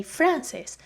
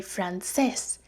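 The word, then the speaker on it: francés: have here another accent I don't say Francis I say Frances and I put the emphasis where the accent is I'm Spanish and French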